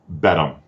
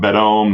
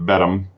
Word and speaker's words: Beddome: And so yes, in answer to your previous question there, I would say Beddome. Not Beddome, not Bethany, but Beddome.